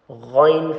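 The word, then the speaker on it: غ: You need to make sure these kids actually pronounce this the throat letter, the top of the throat, kha and ghain correctly, so that it doesn't sound, it doesn't sound like it's coming from the mouth.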